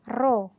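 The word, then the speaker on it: ρ: rumusnya adalah roh ya Jadi ini itu dibacanya roh pengen itu bisa Gini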